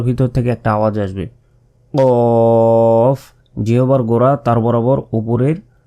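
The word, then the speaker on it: قاف: ঠোটে কামড় দিতে হবে ফা ফা ফা এরপর কফ কফ একটা গলার ভিতর থেকে একটা আওয়াজ আসবে কফ যেবার গোড়া তার বরাবর উপরের তালুর সাথে লাগিয়ে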